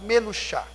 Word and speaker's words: menuchá: Menuchá, só para você ter uma ideia de como se escreve, é igual ao menu de cardápio, menu, né? Coloca a palavra chá, bebida chá, e a letra C no final, menuchá.